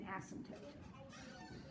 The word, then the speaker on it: asymptote: approaches but doesn't intersect when we pronounce the word asymptote we do not say the p it's not an asset it's an asymptote it's that one's that